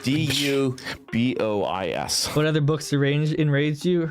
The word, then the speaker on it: Du Bois: It's spelled D.U.B.O.I.S. What other books enraged you? Harassment Architecture. What? No. Du Bois. Why isn't? Because he's American and not French.